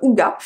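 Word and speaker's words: hygge: du hig tout court qui se prononce d'ailleurs ouga c'est un livre en fait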